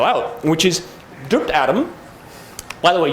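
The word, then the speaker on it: drbdadm: By the way, you're welcome to pronounce it drupt because that's just shorter. And in that case, by the way, linguistically, the R becomes a vowel because a vowel is defined as any sound that can bear the stress of a syllable. So in that case, drupt R vowel.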